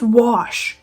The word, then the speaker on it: wash: It's wash. W-A-S-H. There's no R in there anywhere.